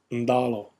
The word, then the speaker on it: dalo: So kalo, talo, talo, taro, and in Fijian, it's pronounced ndalo, ndalo, with that prenasalized consonant nd.